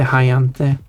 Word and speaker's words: har jag inte: That was that pronounced becomes like the hayante, the hayante.